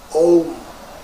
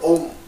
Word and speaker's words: Om: Now here, Om is one syllable constructed three letters together: A, U, and Ma. A, U, Ma, three. Put together, you say Om. Instead of saying slowly, A, U, Ma, say Om.